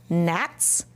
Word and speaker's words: gnats: I found lots of words with the silent letters. Did you? Let's read them. Wrens, new, no, gnats, sign, climb, limb, thumbs, with that apostrophe S.